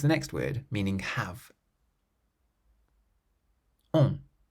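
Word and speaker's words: ont: So the first one has a nasal sound, cousin, meaning cousin, and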